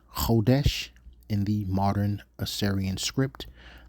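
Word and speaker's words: חודש: That would be pronounced kodesh in the modern Assyrian script, the modern Hebrew language.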